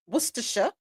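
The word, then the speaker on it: Worcestershire: Why do we have to say worisha when it's w o r c e s t e r s h i r e. Pray tell cuz the c is silent.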